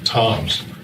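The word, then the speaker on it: Tzomes: who is uh Pete Toms spells his name TZ mes but he pronounces it Toms uh we lost uh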